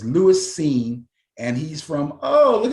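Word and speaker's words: Lewis Cine: pronounced his name because it's spelled c-i-n-e but his name is lewis seen and he's from oh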